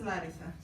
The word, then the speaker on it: Larissa: in Greek it's Larissa. The Yeah. accent is on the first one, the first syllable.